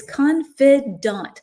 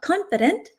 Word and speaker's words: confidant: So acquaintance acquaintance and again the pronunci pronunciation for B is confidant not confident confidant and C supervisor everybody